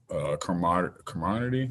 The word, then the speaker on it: camaraderie: So I think that just builds camaraderie.